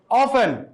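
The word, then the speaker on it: often: আছে present simple হইছে অফেন অফেন correct অফেন সঠিক উচ্চারণ অফ মানে উচ্চারণ প্রায়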